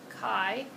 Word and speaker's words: chi: It's C-H-I, sort of looks like chai-tea, but it's not chai-tea. It is pronounced chi.